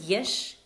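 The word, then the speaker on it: יש: There is yesh, and there is no, it's ein.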